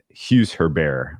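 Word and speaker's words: Hugues Herbert: the French player, and I think the Hughes Herbert, I believe, is the correct pronunciation of his last two names.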